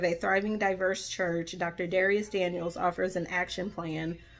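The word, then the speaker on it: Dharius: I want to say it's Darius, and the H is silent. Dr. Darius Daniels.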